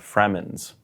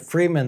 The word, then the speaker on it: Fremen: The one to save the Fremens. Well, this is an interesting thing. When I was reading the book, I was pronouncing it Freeman the whole time.